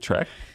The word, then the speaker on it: Trek: You pronounce it Trek? Trek? Star Trek? Yeah. Are you confused about the name of Star Trek? I said Trek. You said track.